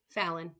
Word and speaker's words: Fallon: Fallen Henley. Fallon. Thank you. I've I I can never remember how to pronounce it, so thank you.